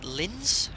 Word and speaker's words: Linz: screwed excuse my Austrian Lintz you pronounce that Linz it's Lima Oscar we